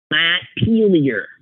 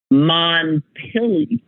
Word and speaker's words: Montpelier: Most common pronunciation is Montpelier. Montpelier. So I was wrong too. Montpelier is how Vermonters pronounce it. Montpelier. He says, I agree that Montpelier is somewhat common, but I think Montpelier is definitely the variation most often used here.